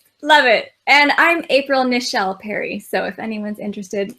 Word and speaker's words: Nichelle: And I'm April Nichelle Perry. So if anyone's interested, like Michelle with an N.